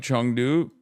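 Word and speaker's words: 成都: It is pronounced like Chungdu. They are wrong.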